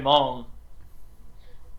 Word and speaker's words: Hmong: so like I'm half Hmong, half Vietnamese. How to spell Hmong is Hmong. It's the H and G is silent.